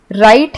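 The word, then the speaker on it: write: राइट है, इसमें W silent होता है।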